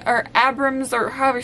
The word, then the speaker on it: Abrams: If you're Gracie Amrick's, I just said her name wrong, or Abrams, or however you say your last name.